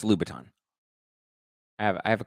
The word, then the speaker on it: Louboutin: doesn't love lab attends she means Louboutins Chris as in Christian Louboutin the red bottom shoes they're pronounced Louboutin lupatin I think it's Louboutin I have I have